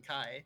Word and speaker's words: Chi: It's just pronounced wrong because it's cuter. Because I'd rather people call me than Kai because that sounds a little weird.